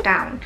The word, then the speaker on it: down: 的纠音，就是这个 down。我们很多朋友喜欢念成 down，我知道很多老师、